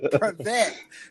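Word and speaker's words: привет: Privet, Privet is how you say hello in Russian.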